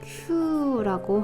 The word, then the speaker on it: 給: 자이 아이 훈독 없고요 음독으로 읽을 때 큐라고 하는 발음을 갖고 있는데 먼저이 주다는 뜻으로 이거